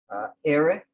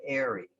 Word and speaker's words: ere: They pronounce it airy. I ain't see airy people there. It's ere.